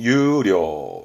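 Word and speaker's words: 優良: 발음은 유료, 유료, 우량, 우량 기업, 내지는 우량 도서처럼 뭔가 우수함을 말했던 유료, 우량입니다.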